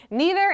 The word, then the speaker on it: neither: please thank you aha the answer is both both neither and neither are both totally acceptable pronunciations there's actually a famous